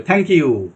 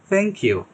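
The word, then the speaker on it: thank you: কিন্তু এটা উচ্চারণটা হবে একেবারে আপনার সামনের দাঁতের ব্লেডে আপনার জিহ্বার একেবারে টিপটা যেটা আছে এটা হালকা করে টাচ করে সামনের দিকে থ্যাংক ইউ থ্যাংক ইউ soft softly উচ্চারণ হবে এটা এই দেখেন এইভাবে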